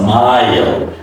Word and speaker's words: mile: my it's My okay my is a long I long I sound so it's a my and after my there's a sound before L comes it's a mile.